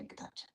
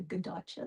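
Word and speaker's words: Kadaitcha: And there's some people academically pronounce that different ways, but you talk to most Indigenous and they say Kadacha. Yeah. Or sometimes it sounds like a G, like a Gadacha, the way to say it, but it's Kadacha.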